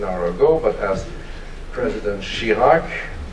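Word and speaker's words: Chirac: ago but as president she Lark that rhymes with Iraq is said once promises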